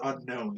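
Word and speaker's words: Unown: ] it is unknown it most certainly is unknown there is no other way to pronounce that pokemon and i've never heard anyone say it differently except for one person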